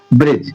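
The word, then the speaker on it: bridge: इसमें भी देखिए जी से पहले क्या आ रहा है? डी। तो यहां डी साइलेंट हो जाएगा। डी साइलेंट डी का ही तो रूल पढ़ रहे हैं। डी साइलेंट हो जाएगा। तो ये क्या हो जाएगा? ब्रिज।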